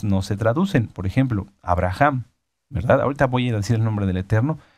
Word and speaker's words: Abraham: hay hay muchos muchas a pesar de que en Estados Unidos en otros lugares se pueda pronunciar el nombre de alguna manera como adaptado no se traduce Pueden decir Abraham verdad Pero el nombre es Abraham Ese es el nombre